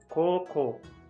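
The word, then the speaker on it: 高校: You want to say koko, koko, which means high school, and you just pronounce koko, koko, which means here.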